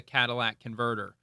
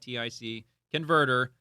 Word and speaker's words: catalytic converter: Catalytic converter. It's not Cadillac, it's catalytic converter.